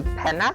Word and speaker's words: penna: So penna? Eh. Pen. No, that sounds Spanish. Pen. You were very close actually. It's penna.